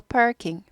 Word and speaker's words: parking: R이 있으니까 구부려요. parking 아니고 parking lot 하셔서 따닥 치셔서 따라하시고 따닥 치시고 따라하시고 곱하기 6번 그래서 그때그때 6번 따라 하시라는 건 하세요.